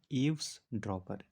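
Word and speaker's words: eavesdropper: इसको पढ़ते हैं ईव्स ड्रॉपर। इसकी स्पेलिंग होती है EAVES, ईव्स ड्रॉपर, DROPPER।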